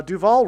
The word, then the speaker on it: Duval: Uh Duval rhymes with Hall.